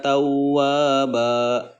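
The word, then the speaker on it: تَوَّابًا: Nah, tawwaba asalnya ban karena wakof jadi tawwaba. Ini adalah mad iwad gitu ya. Mengenai mad iwad itu mad panjang, iwad itu artinya mengganti tanwin dengan fathah gitu ya. Seperti itu cara membacanya 2 harokat.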